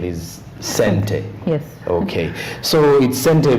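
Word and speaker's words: Xente: uh though I've been told by Lynn the pronunciation is sente yes okay so it Center meaning money in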